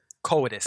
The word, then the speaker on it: coitus: I've been pronouncing it wrong, guys. Coitus. There we go.